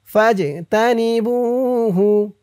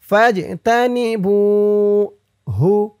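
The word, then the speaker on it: فاجتنبوه: রিজসুম মিন আমালিশ শাইতানি ফাজতানিবুহু। ফাজ জিম কলকলার হরফ, ধাক্কা দিয়ে পড়তে হবে। ফাজ তা নি বু, বু একালিফ টান, পেশের পরে ওয়াও সাকিন। ফাজতানিবুহু ফাজতানিবুহু লাআল্লাকুম, লা আল্লা,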